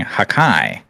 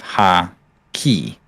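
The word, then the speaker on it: Haki: Broken, you mispronounced the word hockey, saying hakai instead of ha-ki.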